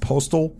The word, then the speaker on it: Postl: Dylan, and I believe the last name is pronounced Postal. It's spelled Postl.